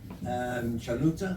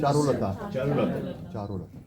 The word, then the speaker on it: Charulata: Pronunciation. And then Chaluta, I believe. Charulata.